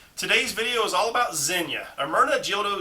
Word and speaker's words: Zegna: dog is named zinya it's spelled z-e-g-n-a but it's pronounced zenya uh amirna gildo zenya